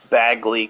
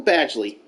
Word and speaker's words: Badgley: he had a stellar season I signed Michael Bagley because bad I don't know how to say his name Michael Badgley that's how you say it signed him in